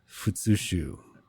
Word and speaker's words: futsushu: would this be the the the uh the fushu yes fushu all right I was concerned for a moment that I didn't pronounce that right but I'm glad I got